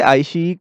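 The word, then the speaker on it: iQIYI: इसे आईशीई केस से प्रोनाउंस किया जाता है, ठीक है।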